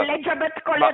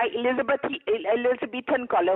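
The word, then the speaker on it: Elizabethan collar: एलिजाबेथ कॉलर नहीं होता, एलिजाबेथन कॉलर होता है, आपको तो प्रोनाउंस करना भी नहीं आता।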